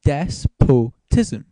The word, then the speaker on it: despotism: Now, it doesn't sound right to me even as I say it now, despotism. But I checked it up. It's right. You're meant to pronounce it despotism.